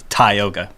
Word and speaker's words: Tioga: is a word it's the ank the anglicized pronunciation is is more phonetic as Tioga but we say to yoga because I I read a book from like